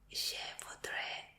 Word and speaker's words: je voudrais: Entonces se dice je voudrais le. Ok. Esto es solo para ordenar comida. Sí, porque no, el je voudrais no es como el yo quiero, sino que